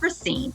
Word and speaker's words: Racine: No, it's Racine. Racine. Racine. So I've been saying it wrong the whole week, but that's okay.